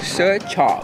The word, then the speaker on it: Zi Char: Tsicha. Zicha? Actually, it's pronounced tsicha. Tse. Ba't ang galing mo? So the R is silent.